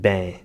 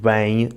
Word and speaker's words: bem: South and the islands, which change the diphthongs of the words “meu” and “bem”, saying “mê” and “bêm”. We also noticed the slightly more musical cadence of the North in the Braga accent. Miguel says “o mieu” instead of “mine” and “beim” instead of “bem”.